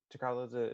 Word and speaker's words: T'Challa: T'Challa is the pronunciation of his T'Challa.